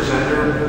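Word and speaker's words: Zehner: My name is Zender. My last name is spelled Z-E-H-N-E-R.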